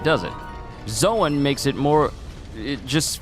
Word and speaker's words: Zoan: Logia is Logia, and Zoan is Zoan. Not zone, Zoan. Because imagine me if I switched it up and started calling them ancient zone types. What? Doesn't even sound right, does it? Zoan makes it more, it just feels natural.